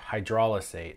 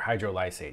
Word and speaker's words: hydrolysate: would be emulsion or hydrolysate or hydrolysate. We were talking before the podcast and you said it could be pronounced either way. I've always said hydrolysate.